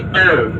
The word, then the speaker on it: phở: famous food that you should try one day, phở, P-H-O, phở, right? You should say like me, phở. The last words, even though that is O, but we say phở, right?